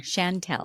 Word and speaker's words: Chantel: So, Chantel, and I say it wrong, Chantel, Yes, that's good. Shantell, in case you're just listening.